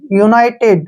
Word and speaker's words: united: से कोई भी आता है तो यू का उच्चारण यू ही करेंगे। इसको पढ़ेंगे हम UNITED, यूनाइटेड, क्या पढ़ेंगे, यूनाइटेड।